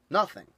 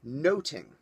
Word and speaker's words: nothing: about the word nothing in its original historical context it was not pronounced nothing the English pronounced it noting now that's also important